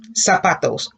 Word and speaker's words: zapatos: If the Z sounds like an S, how do you think you would pronounce that word? Can you see it? All right, clase, repita. Zapatos.